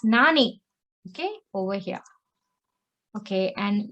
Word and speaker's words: 何: kanji for what and it can be pronounced as nan and nani okay first let us